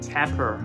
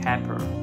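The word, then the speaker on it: tapir: also be pronounced as Tapper I mean some people actually pronounce it as Tapper this is a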